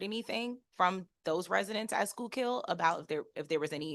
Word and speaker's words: Schuylkill: Your inspections of federal correctional institution in Schuylkill, pronouncing that correctly? Schuylkill.